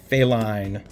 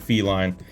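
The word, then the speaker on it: Faline: The Coachman, Atlantan Crystal for the rare, Nathaniel Flint for the rare, and the foil failine. I didn't butcher the name this time, did I? Last time I almost said feline.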